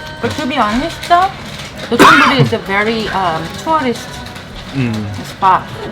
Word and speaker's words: Dotonbori: Dotonbori?